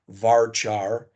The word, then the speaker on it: varchar: things they look weird they're actually pronounced Char varchar n Char and n varchar a field that's a